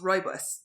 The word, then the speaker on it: rooibos: Rooibos? I don't know. I just guessed. I think according Rooibos? to Google, it's pronounced rooibos.